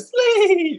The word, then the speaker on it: Shleeep: so the process was sleeve that's actually how you say it sleep you got to say it like that every time so you